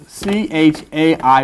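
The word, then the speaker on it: חי: The number 10 is I, and you put them together, 18 equals CHAI, pronounced chai, which is life.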